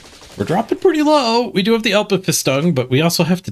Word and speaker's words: Alpenfestung: Oh, You got pronunciation guide for it? ALPENFESTUNG.